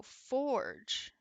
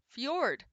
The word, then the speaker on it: fjord: don't pronounce my d is it pronounced like the vehicle like the car Ford thank you like the J is silent oh so it's a y for George foreign I was adding a g i was 100 adding